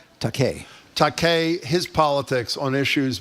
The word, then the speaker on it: Takei: How do you pronounce his last name? Takei.